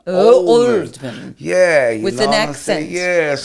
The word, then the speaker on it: Oldman: And I say his name wrong, and then Gary Oldman says, no Flavors, Oldman. Oldman.